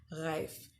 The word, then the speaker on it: Reif: I've been pronouncing it Reif and just recently found out that it's pronounced Reif because she is a German influencer, fitness influencer and model.